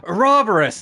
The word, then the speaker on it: Ouroboros: But it was so nice playing Bravely Default and the final boss being Ouroboros and then naming it correctly. And like pronouncing it correctly. All the characters go, Ouroboros!